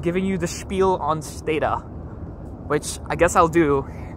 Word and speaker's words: Stata: people it was named after, surnames are actually pronounced Stata rather than Stata. But it's what most people say. So I say Stata normally, but I'm giving the tour, so I'm saying Stata.